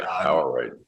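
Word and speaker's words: Awaruite: Yeah, Awarite.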